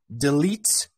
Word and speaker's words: delete: show you this one so delete uh d e is is not stressful so it sounds as de but this sounds as e delete uh so these are two different pronunciations this is stress this is not stressed okay yeah I don't